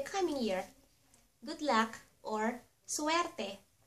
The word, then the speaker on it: suwerte: Good luck or suwerte. Suwerte.